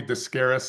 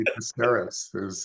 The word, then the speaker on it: Dicesaris: They used to call me Dicesaris in high school. It's actually Dicesaris is how it's pronounced.